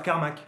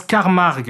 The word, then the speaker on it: Carmack: le professeur Carmack. Non, ça se prononce Carmarg, qui s'arrache une oreille